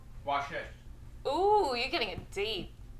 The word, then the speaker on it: Vashisht: Vashisht. There's going to be another quiz in about 15 minutes, so. A lot of people think it's German because the V is pronounced like a Vashisht.